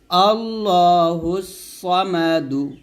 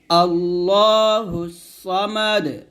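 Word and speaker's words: ٱللَّهُ ٱلصَّمَدُ: মা দাল পেশ দু আল্লাহুস সামাদু আরফ দালটা করতে হবে আল্লাহুস সামাদ সামাদ এরকম দাল কলকলা হবে আল্লাহুস সামাদ হুস সামাদ এরকম আবার বলেন আমার সাথে আল্লাহুস সামাদ আবার আল্লাহ বলবেন না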